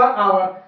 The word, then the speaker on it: hour: Example देखिएगा, HOUR आवर, आपने देखा आवर की स्टार्टिंग में किससे स्टार्टिंग हो रही है, एच से, इसलिए एच हमारा यहाँ पे साइलेंट हो गया और इसे हम बोलेंगे आवर।